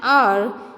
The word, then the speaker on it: hour: A word beginning with a silent H, like A. Example, an honest man, an hour, an hair, an honorable man, an hires an honorary member, honorary in a sense member.